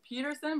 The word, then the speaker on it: Peterson: You guys said Peterson, but you didn't you didn't pronounce the T.